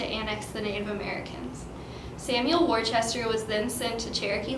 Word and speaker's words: Worcester: In the making of this film, Worcester was pronounced Worcester. The actual pronunciation is Worcester.